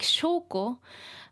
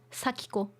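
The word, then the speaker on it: 祥子: spell Sako like this it looks like shoko but um in this uh game in this story uh it's pronounced sakiko a lot of her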